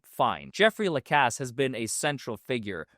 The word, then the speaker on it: Lacasse: I'm sorry, how you pronounce it? Lacasse. Lacasse.